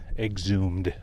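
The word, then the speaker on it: exhumed: Exumed, I should say. It's how you pronounce it.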